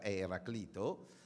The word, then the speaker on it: Eraclito: Ecco il primo è sulla pronuncia Sì si può discutere Eraclito o Eraclito qualcuno l'avrà sentito parlare in realtà la pronuncia corretta Eraclito Ecco Eraclito di Efeso